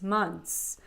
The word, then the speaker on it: months: s or e s we're not going to pronounce a t it's gonna be months okay just for a couple